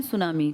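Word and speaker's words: tsunami: Eruption था मैं तो सुनामी की बात कर रहा हूं ना सुनामी जापानी भाषा का शब्द है जिसमें टी साइलेंट लिखते हैं ऐसे बोलते हैं। लिखते हैं टी सुनामी बोलते हैं सुनामी।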